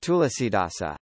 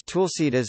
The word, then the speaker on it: Tulsidas: Using the Hunterian transliteration system, it is written as Tulsidas or Tulsidas, reflecting the vernacular pronunciation, since the written Indian languages maintain the vestigial letters that are no longer pronounced. The lost vowels are an aspect of the schwa deletion in Indo-Aryan languages and can vary between regions.